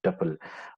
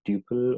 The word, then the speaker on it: tuple: will discuss about the tupple you can pronounce as tuple or double so it doesn't matter we'll see that what